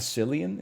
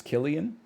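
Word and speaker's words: Cillian: on the Western Front it's not silly and it's Killian well it sounds like it should be spelled with a k then it's not really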